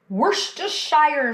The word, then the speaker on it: Worcestershire: You know, it seems like everybody has issues pronouncing it. worst shire sauce.